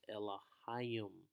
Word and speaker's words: Elohim: one all right and the proper way to pronounce it is elohim all right and the